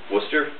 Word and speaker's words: Worcester: So we're here with Barbara of the Wool Shed in Worcester. Yep.